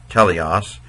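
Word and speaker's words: τέλειος: Well, we know that so even if you can't read this, teleos, here is the word English, in English, perfect.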